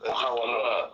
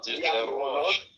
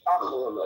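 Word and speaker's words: אחרונות: It's Yediot Achronot. Not Yachronot, Achronot.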